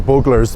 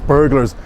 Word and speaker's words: Buglers: heading to buglers now i was pronouncing it the buglers burglars it's buglers um and then the sky